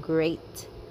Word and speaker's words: great: meant and peat but sweat and great. The last word rhymes with freight and weight.